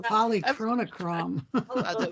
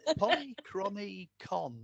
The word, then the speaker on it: Polychronicon: I can't pronounce it. Yeah. No, I know. Polychronochrome. Yeah, Polychronicon.